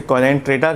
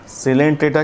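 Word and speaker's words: Coelenterata: Porifera के बाद सिलेंट्रेटा, बहुत सारे लोग उसे कोलेंट्रेटा कहते हैं, नहीं, यहाँ पर ओ साइलेंट है, सिलेंट्रेटा कहलाएगा।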